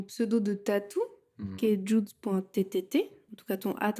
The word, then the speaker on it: Judz: donc rester sur udz donc j+u et Z ça fait Jude ok on peut plus